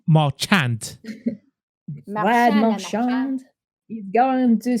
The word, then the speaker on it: Marchand: That's how we're going to be pronouncing his name, except for Jeremy, I presume, because, Marchand sounds like a French name. Marchand. Marchand.